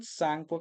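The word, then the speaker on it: Tsangpo: ब्र ब्रह्मपुत्र नदी को सांगपो के नाम प यहां प टी साइलेंट है ठीक है इसको डायरेक्ट आप सांगपो बोलिएगा यहां पे त साइलेंट है इसको शांको नदी तो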